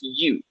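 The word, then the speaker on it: ewe: have to check the pronunciation this word is pronounced you pretty much you like you alright I'm not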